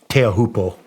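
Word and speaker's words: Teahupo'o: When you rode I'm sorry, how do you pronounce the wave in Tahiti? Teahupo.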